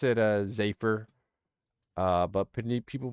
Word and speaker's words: Z8phy: the other day and she said my name perfect she was like she was like what's up zaer I bet you say it like that huh and I was like oh my God yeah I do I do say it like that and then she like said it wrong she was like or or maybe you say it like Z8 Z8 fire or something but I was like no you said it right the like holy cow